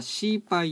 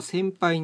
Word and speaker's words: 洗牌: 今日はシーパと先輩について説明します漢字で書くと同じ漢字牌を洗うと書いてシーパと呼んだり先輩と呼んだりしますたまに使い方間違っ